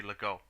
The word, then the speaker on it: Legault: Yeah, because it's a T, it's not pronounced, so it would be Legault.